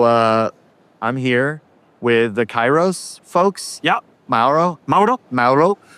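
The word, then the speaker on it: Kairos: i r o s Kyros that's how we pronounce it we have a Greek person in the team so it turns out it's not the proper way to pronounce it in Greek but who cares right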